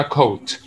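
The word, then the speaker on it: court: بس بلاش ننطق الار بقى اسمها كوت.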